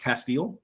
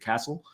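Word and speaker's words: Castell: Thornton, and I think it's pronounced Castile, as Graham Hall said, Jordan Castile. I think I pronounced it Castle.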